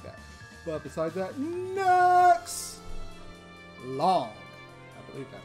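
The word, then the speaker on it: Luong: Long.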